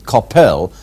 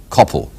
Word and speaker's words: Coppell: He says that in fact it should not be Coppell, but Coppell, as in hell.